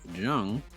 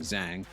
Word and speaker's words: Jung: Now, if we go further down, we have Rod Jung, who I've unfortunately been pronouncing incorrectly for the past couple of weeks, saying Zhang, but he had a solid